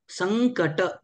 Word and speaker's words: संकट: type होतो तो हा थोडं न सारखं उच्चारण होतं परंतु ग उच्चारण आहे संकट हा म्हणजे आपण ज्या